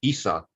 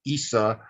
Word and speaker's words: Isis: In the authentic Egyptian pronunciation, it's just Isa, just like Horus is Hor. So you would have Isa, and one of her